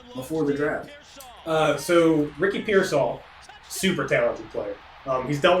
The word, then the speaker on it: Pearsall: How do you pronounce his name? Ricky Pearsall? Ricky Pearsall.